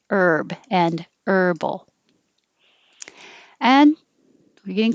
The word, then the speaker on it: Herb: not that common, but if it's a person's name, we say the H, herb. Otherwise, herb, no H, herb, and herbal.